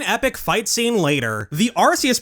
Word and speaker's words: Arceus: Whenever you have a C followed by an E, the C will make a soft S sound instead of a hard C sound. There are some exceptions to that rule, but they're extremely limited. So, if someone saw this name for the first time, they'd be more likely to pronounce with a soft C.